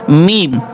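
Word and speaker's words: م: এবং পরেরটা টা দেখেন দুই ঠোটের শুকনা জায়গা হতে একটি হরফ উচ্চারিত হয় সেটা হচ্ছে মিম একটু ঠোটটা চাপ হয় চাপ দিয়ে একটু ঠোটের যে সামনের যে শুকনা জায়গা আছে ওখান থেকে লাগিয়ে উচ্চারণ করতে হয় সেটা হচ্ছে কি মিম দুই ঠোট গোল করে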